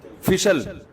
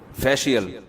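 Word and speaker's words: facial: फिशल फिशल फिशल फैशल अबे सही pronunciation बुलवाया करो। फिशल ना फैशल ये अमेरिका से आए हैं। ये सही बताएंगे। जी फैशियल ये अमेरिका से आए हैं।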